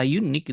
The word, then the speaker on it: unique: Kata unique itu bacanya pakai u. Jadi membacanya sound-nya itu konsonan. Kalau sound-nya konsonan harusnya a unique bukan n unique.